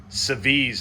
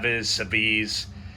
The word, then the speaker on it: Seviz: So today we have, I'm going to give my best shot at pronouncing this. Seviz, I guess, is the way it's pronounced. Seviz.